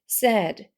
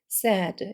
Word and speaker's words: said: 요거라고 있는 사람이 많은데 세이가 아니고 세라고 읽으셔야 돼요 슬픈이라는 용사하고 발음이 같습니다 sad sad 이렇게 읽어주시면 됩니다 그래서 he sad 이렇게